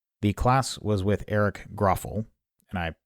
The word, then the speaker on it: Grauffel: speak I've realized that I have been pronouncing his name wrong and I think everybody I know has been but it's gruffal that's the way he pronounces it so I will try